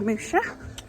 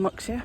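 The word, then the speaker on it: Muxía: just leaving finistere and going to moosha on moxie whichever way you want to pronounce it um it's 17 and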